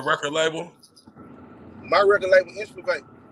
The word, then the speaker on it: Inspivate: my record label Inspivate. How you say it? Inspivate. It's like Inspire Motivate.